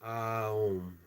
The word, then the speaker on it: om: is om om and om is pronounced um oh Dam d a